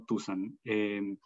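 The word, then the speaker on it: tusán: El nombre de nuestra comunidad es Tusan con acento en la A, Tusan, no Tusan.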